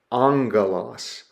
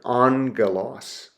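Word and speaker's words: ἄγγελος: So we would pronounce that angalos. Analos. Okay, you see how I broken down the syllables and transliterated the sound there. Angalos. That's that first gamma is pronounced with an n an angalos.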